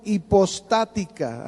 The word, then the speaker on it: hipostática: que fue la unión hipostática. Anótelo así. ¿Qué es la unión hipostática? ¿Qué es la unión hipostática? Con H. Hipostática, acento en la primera, hipostática.